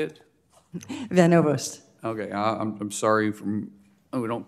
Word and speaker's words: Van Ovost: Van Overst. Okay, I'm sorry, we don't pronounce that often from Oklahoma.